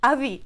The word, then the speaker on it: avis: avis, Yeah, avis. that's quite good because you don't pronounce the S, the final S.